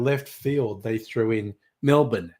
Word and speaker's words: Melbourne: But one of them then threw in Melbourne cuz it's called Melbourne, not Melbourne. I thought, okay, that was a fun left field thing.